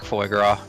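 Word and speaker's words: foie: So yeah, foy. Also, you don't pronounce the s.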